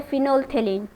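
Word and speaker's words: phenolphthalein: यहाँ पे PH जो है ये साइलेंट है, राइट। तो इसका करेक्ट जो प्रोनाउंसिएशन है वो है फिनोल्फथेलीन, ध्यान में रखिएगा।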